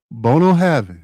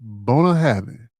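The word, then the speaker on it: Bunnahabhain: Bono Havin. That's how you pronounce it.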